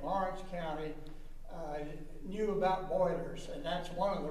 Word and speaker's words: Byler: old boiler Road and boiler is an approximation of the original French German pronunciation of the name as it is spoken